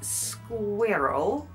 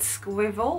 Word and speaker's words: squirrel: English word roughly so I think it's squirrel but of course for many years I would have said squel or squirrel squirrel squirrel squirel